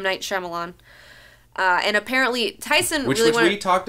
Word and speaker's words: Shyamalan: Night Shyamalan. Not because I like Will Smith or Jaden Smith. Am I pronouncing his name wrong?